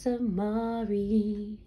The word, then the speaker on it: Samari: My name's Samari, it rhymes with safari, and this right here is Mari's Chronicles.